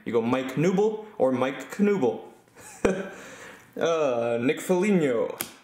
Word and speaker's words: Knuble: As I've made the joke before, you can never mispronounce his name. If you say the K loud, you say the K quiet. Either way, it sounds the same. You go Mike Knuble or Mike Knuble.